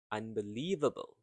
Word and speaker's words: unbelievable: So you can hear the rhythm and the stress word or stress syllable is the third one. Unbelievable. And leave is longer, stressed and prolonged.